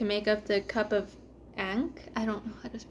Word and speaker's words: Ankh: just word salad yeah because it's a-n-k-h so like an actual like Egyptian word I just I don't know how to pronounce it I think it's ankh yeah or yeah yeah